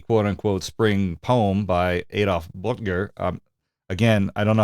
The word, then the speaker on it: Böttger: This is German words, so I asked my Austrian friend to pronounce the title and composer for us, and here's how he said it. Frühlingsgedicht by Adolf Böttger.